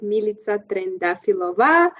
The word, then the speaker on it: Militsa Trendafilova: Yes, my name is Militsa Trendafilova.